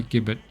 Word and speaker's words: gibbet: It begins with a hard sound, not a soft one, obviously.